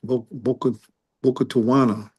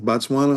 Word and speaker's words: Botswana: because I was thinking about hmm, was it Boca Tawana? Isn't it? Is that how you pronounce it? Okay. Botswana, Oh, something like that.